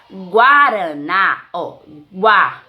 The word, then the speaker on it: guaraná: jeú já na palavrinha guaraná guaraná Museu não é dígrafo Por que pronunciamos o o guaraná se fosse enganar Gaara